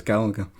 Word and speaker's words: Galaga: right okay question eight which is the correct pronunciation gallaga or gaga gaga no I'm afraid it's Galaga I would not I would not Gaga no